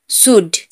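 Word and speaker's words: should: कुड, COULD, कुड, यहाँ पर डी से पहले एल है तो एल साइलेंट होगा। कुड, वुड, शुड।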